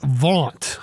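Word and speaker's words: vaunt: of the day is vant i love this one syllable gives justin a chance v a u n t for those english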